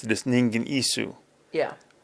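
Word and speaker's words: Ningen Isu: The way we would pronounce it is Ningan Isu.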